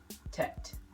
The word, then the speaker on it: Tet: And so I went researching, and I came to the conclusion that there's a Hebrew symbol that represents 9, and it's called Tet. Tet.